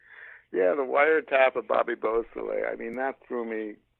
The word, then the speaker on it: Beausoleil: And one of that, I believe it was the, and I'll probably pronounce this wrong again, the Busol wiretap. Oh, Bobby Beausoleil.